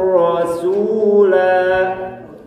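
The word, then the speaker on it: رَسُولَا: Yang pertama, wa ata'na rasul. Yang kedua, wa ata'na rasula. Cara baca yang benar 1 atau 2? 2 atau 1? 2. Yaitu harus membaca alifnya, mengeluarkan suara alif. Kalau rasul berarti menghilangkan suara alif.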